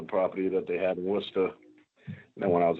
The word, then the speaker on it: Worcester: Well, the proper pronunciation is Worcester, Massachusetts, how we say it out here. I know that's what it looks like when you read it.